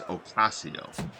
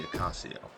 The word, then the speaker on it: Ocasio: I know it's Ocasio. Is the correct, let's see, Ocasio. We'll see if we can stick to that through the remainder of this fight, however it goes.